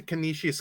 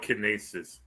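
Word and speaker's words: Canisius: That's not how you say it. We call it Kinesis.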